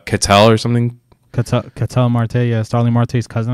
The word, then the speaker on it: Ketel: Ketel Marte, yeah.